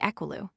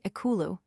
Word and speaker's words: ekulu: One may say equilu, another, but the third will say ekulu, which is correct.